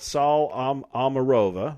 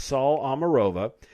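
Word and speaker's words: Saule Omarova: by this latest nominee her name is called saul amarova i believe if i pronounce that incorrectly my apologies but it's sol omarova and she has been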